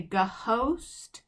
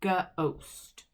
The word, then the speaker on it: ghost: anything narl and then gh just makes gu like ghost we don't say ga host we just say ghost so let's go over